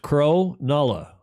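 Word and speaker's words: Cronulla: Jody Shields thank you it's pronounced Crow Nala how would I know thank you Jody Crow Nala Graham Sweeney says his house is built in 1801.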